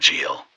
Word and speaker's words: Jul: Yule, from the Anglo-Saxon Jule, though nowadays it is more commonly known as Christmastide or the 12 Days of Christmas. However, in Scandinavia they still call it Jule, pronounced Yule or Jul.